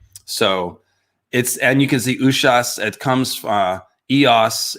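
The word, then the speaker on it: Uṣas: I think it's called Usas. Let me pull it up here real quick. The pronunciation right. Ushas. It's got an H in there.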